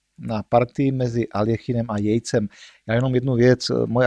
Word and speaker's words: Yates: Já jenom jednu věc, moje angličtina je bídná, nerad bych komolil jméno, píšete to Jates jako z Y a já to teda budu vyslovovat jako Jejc, nevím opravdu, jestli to vyslovu správně, ale tak to už je celkem jedno.